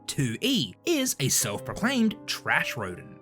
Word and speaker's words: Toullie: stop talking about it tuy it's pronounced Tu e is a self-proclaimed trash